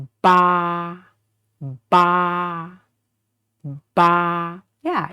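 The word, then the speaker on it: 八: So the initial is pronounced bo, and this final is the a. So together, bo, a, ba. And this tone is, the first tone is flat. Try to make sure you keep it flat from the beginning to the end.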